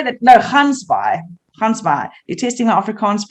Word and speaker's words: Gansbaai: Gansbaai. Did I say that? No, Gansbaai. You're testing my Afrikaans pronunciations?